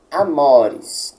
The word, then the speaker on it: amores: Amores. A letra O, ela deve ser pronunciada como se houvesse um acento agudo ali.